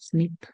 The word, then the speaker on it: SNP: se le conoce es snp s pero lo pronunciamos nada más como snip Entonces cuando escuchen snip